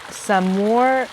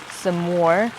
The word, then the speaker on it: Saumur: a 2022 vintage it's from Val deor um samour shini so let me let me break this